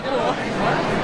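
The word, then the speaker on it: Kul: Miranda Sings Miranda cool my last name really is actually cool cool with a s k it's spelled k u l that's so cool cool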